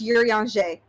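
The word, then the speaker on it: Urianger: I have terror I have terrible news for everyone in call his name is pronounced yuriyanjae believe me the first time I heard someone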